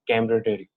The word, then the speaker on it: camaraderie: uh today's video uh is camaraderie right the pronunciation is cambritary okay the meaning of this particular word is